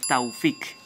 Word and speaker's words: Tufik: como dato curioso que en el original árabe no se dice tufik se dice taufic ésta es la pronunciación original así es como se